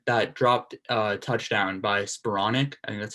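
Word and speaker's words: Skowronek: of mistakes that that dropped a touchdown by spuronic and that's how you say it wide open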